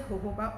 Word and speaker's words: jojoba: It is written as Gojoba, but it's pronounced as jojoba oil.